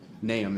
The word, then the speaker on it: Nahum: There's a lot of pronunciations of it. Nahum is the correct way.